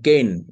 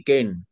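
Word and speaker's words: cane: ইয়া যদি হয় ওয়ার্ড তিন লেটারের একটা ওয়ার্ড যদি হয় যার শুরুতে থাকবে এ লাস্টে থাকবে ই মাঝখানে থাকবে অন্য একটা কনসোনেন্ট যদি থাকে তাহলে সেটার উচ্চারণ হবে এই এই উচ্চারণে যেমন দেখেন কেইন ব্যাথ ব্যাথ ইংরেজি কি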